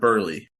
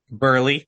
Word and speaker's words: Buehrle: Mark Burley.